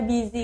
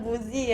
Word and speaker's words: busy: Ada kan bio WhatsApp yang busi itu sebenarnya dibaca busy guys. Oke. Jadi komster kalau pengin bikin bio WhatsApp itu bacanya jangan buzi ya.